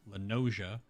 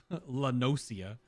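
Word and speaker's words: La Noscea: on the island of illinois that's how it's pronounced lenoja lot not uh la nosia but i'm out here in limsa lomensa on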